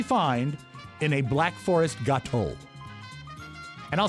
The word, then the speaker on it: gâteau: Mike, what kind of fruit do you usually find in a Black Forest gâteau? And I'll spell that because that's French for cake.